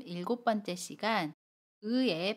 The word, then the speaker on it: 의: 발음 일곱 번째 시간 의외의 발음을 알아보겠습니다 1 을 발음하는 방법 알아볼게요 의인 모음 의와 고음 2 가 결합해서 생긴 단어입니다 아름 할 때도 우와 이를 빠르게 합쳐서 의 라고 발음 해요 연습을 할 때 이